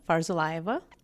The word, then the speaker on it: Farzullayeva: Oh God, it's so long, but it's Farzullayeva. Spell it.